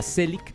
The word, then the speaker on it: Zelig: Se llama Selig, es una película que se escribe, es un nombre que escribe con Z, Selig, y está hablando de un tipo que se llama Leonard Selig.